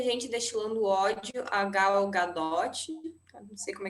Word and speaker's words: Gadot: ela é muito engraçado, tem gente que chama ela de Gadot. Eu não sei se pensam isso por conta de alguma coisa francesa e tal, mas é Gadot mesmo, a pronúncia em hebraico.